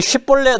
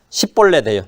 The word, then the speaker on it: 쉽볼렛: 근데 이 쉽볼렛 하면 이거는 요르단 동편 사람만 하는 거예요. 길앗 쪽 속은 쉽볼렛 하는데 에브라임 지파 사람 서쪽 사람이죠. 이쪽은 십볼렛이에요. 쉽이 아니라 그 쉽볼렛 해보라 그러면 십볼렛 하는데 십볼렛 하면 다 죽는 거예요.